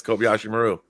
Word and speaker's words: Kobayashi Maru: the what was it what was always mispronounced that was the Kobayashi Maru right yeah that's right that was the exercise yeah did I say it right yeah yes Kobayashi Maru actually as somebody who's